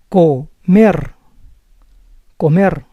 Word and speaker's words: comer: When an R is at the end of a syllable, as you see in these two examples, it may sound as a rolling R. Comer, comer. Arte, arte. But when we speak fast, we may use the soft R sound too.